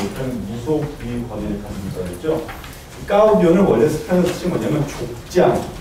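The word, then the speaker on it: caudillo: 이 까우디오 세계는 까우디오라고 하는데 발음이 까우디오가 맞습니다. 까우디오 까우디오 엘레 발음이 엘 발음이 안 되고 스페인 요가 나요.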